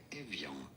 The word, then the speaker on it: Evian: How do you say it? In French it is said as Evian.